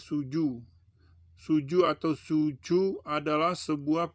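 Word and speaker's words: 蹴鞠: di negara China dengan nama a Zoo Suzuya dibacanya Suju Suju atau Suju adalah sebuah permainan bola Tiongkok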